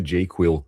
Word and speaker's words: JQL: So I'm going to click on JQL and here is the jQuil code. I pronounce JQL as jQuil.